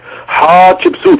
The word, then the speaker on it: حتشبسوت: هي نفرت، ادي كلمه، ايتي ادي كلمه ثانيه خالص، يبقى نفرت ايتي، حتشبسوت في الف بعد الحاء لان حات معناها المقدمه في الهيروغليفيه، وهكذا بقى دواليك، رعمسس